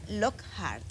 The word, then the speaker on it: Lockhart: Violeta Lockhart, de aquí de la casa, Violeta Lockhart, así se pronuncia tu apellido, ¿verdad?